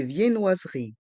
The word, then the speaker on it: viennoiseries: étagères de pain des viennoiseries des vien noise on prononce bien les deux n dans le mot viennoiserie des viennoise rie des